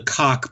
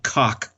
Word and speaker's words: Koch: To include the Koch brothers, which, by the way, that's the correct pronunciation of their name, the Koch brothers.